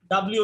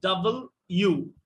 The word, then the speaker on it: W: FLEW, flew, fly, flew, flown, FLOWN, ডাব্লিউ না ডাব্লিউ, ডাবল ইউ, মনে থাকবে? জি স্যার। বলেন। ডাবল ইউ। হ্যাঁ, তো এই ডাবল ইউ এই কথাটা খুব দ্রুত উচ্চারণ করবেন, যেমন ডাব্লিউ, ডাব্লিউ, ডাবল ইউ, ডাবল ইউ, ডাব্লিউ, ডাব্লিউ, ডাব্লিউ, ডাব্লিউ, ডাব্লিউ, এভাবে প্র্যাকটিস করেন।